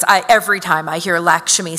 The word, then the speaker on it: Lakshmi: named Lakshmi Singh and the sort of Indian pronunciation of that name is Lakshmi and Lakshmi Singh is like look my family's from Trinidad and Tobago this is how we say it right I really end